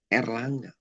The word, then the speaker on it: Erlangga: Yang benar katakan Erlangga, ER, makanya bukan air. Maka seluruh data itu harus diubah yang tadinya air menjadi ER. Jadi bacanya benar-benar Erlangga.